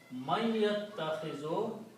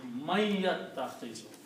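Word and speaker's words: مَن يَتَّخِذُ: Man yattakhizu, he who takes. Okay. And also, this is a noon and this is a ya. So you pronounce these together with a unna. Man yattakhizu.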